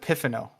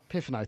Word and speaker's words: Pifano: I always pronounce it Pifano. Pifano, thank you.